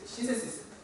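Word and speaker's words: synthesis: 신세시스. 원래 TH 번데기 발음 좀 해줘야 되는데 신세시스.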